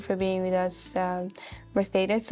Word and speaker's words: Mercedes: being with us um merthus if I'm saying it right yes and I think you're saying it right yeah because there is I have to say it in a Spanish way yes thank you again